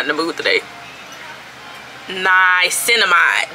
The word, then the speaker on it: Niacinamide: Niacinamide, that's how you say it, period.